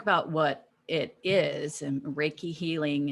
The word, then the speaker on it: Reiki: You say it. It's Reiki. Yay! Yeah, I don't know. I call it Rieke. Not but Reiki. That's what, Reiki don't lose that number.